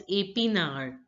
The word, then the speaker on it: épinard: Spinach is pronounced as épinard. Épinard. Now see that the acute accent in E changes the pronunciation to A.